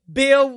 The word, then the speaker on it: B. Hill: Dr. Bill with the H is silent and Dr.